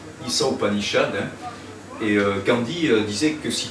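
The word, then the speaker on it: Īśā Upaniṣad: Et entre autres, une des plus célèbres Upanishads, c'est l'Isa Upanishad, et ça s'écrit I accent, c'est-à-dire long, Sa, S-H, A long, Isa Upanishad, et Gandhi disait que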